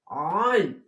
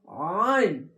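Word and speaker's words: عين: জ উন্তস্ত জ, জ, আইন, আইন, মোটা করে হবে, চেপে হবে গলা, আইন, আইন, আইন, এই যে চিহ্নটা দেখতে পাচ্ছেন, এই চিহ্নটা দেখে আপনি আইন, আর একটি সরি, যখন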